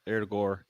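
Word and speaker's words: Ødegaard: Erdegaard. And that's what I was told by a Norwegian. Norwegian told me that's how they say his name.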